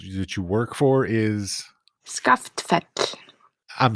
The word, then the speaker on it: Skaftfell: the Arts organization that you work for is SCA fet I'm s yes SCA fet I would never have gotten that by reading